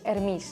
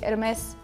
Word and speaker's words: Hermes: So his name is Hermes.